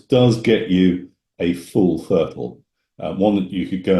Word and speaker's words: FRTOL: for glider Pilots getting a fertile that's how we pronounce that word flight radio telphy operator